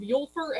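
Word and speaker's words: Úlfur: of the owners of yulfer and leather blocker or for the americans that can't pronounce anything from any other countries lear blocka which basically means wolf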